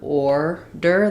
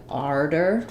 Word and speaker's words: order: So most places in the U.S. we have order, the or sound here. Some places say it a little bit more like arder with an R sound or an ah, arder.